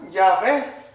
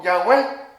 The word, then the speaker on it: Yahweh: Posteriormente, para poderle dar una pronunciación, se le agregaron 2 vocales y se pronuncia Yahvé. Alguien más lo pronuncia como Yahweh, otros como Yahvé. Entonces, en este caso, vamos a decir es Yahweh.